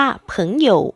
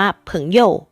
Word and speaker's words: 朋友: เหมือน เป็น เสียง เบา นั่น เป็น เพราะ ชาว จีน ทาง ตอน เหนือ ค่ะ จะ ออก เสียง คำ นี้ ว่า ผึ้ง หยก ถึง หยก ซึ่ง จะ ลง ท้าย เป็น เสียง เบา ค่ะ ซึ่ง ใน การ ใช้ จริง ๆ นะ คะ เรา จะ ออก เสียง ว่า เผิงโหย่ว หรือ ว่า เพิ่ง โย แบบ นี้ ก็ ได้ ค่ะ ไม่ ผิด ค่ะ มา แล้ว มา ดู